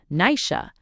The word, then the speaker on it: Naisi: One day when Deerra had grown to be a fine big girl, she looks out of the window and she sees Nicey pronounced Nisha going along by with his two brothers, the three of them together, they having been hunting in the mountain.